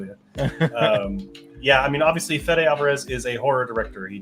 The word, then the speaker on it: Fede Alvarez: Yes, I totally butchered that name. What is it? Fede Alvarez. Fede. Hey, I could have said feed, and it would have been I think you worse.